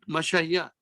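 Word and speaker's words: مشى: Mashaya. This is Tingu Alif denotes ya. Ya. Ya. Mashaya. But we pronounce it Masha. Masha. Pronunciation of ah.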